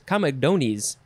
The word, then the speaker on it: comedones: plural is com how do you say this comedones comedones that's the plural this is a latin word